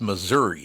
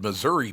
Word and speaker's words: Missouri: where the hell did Missouri pop up well it's it rhymes with misery for a reason yeah oh very good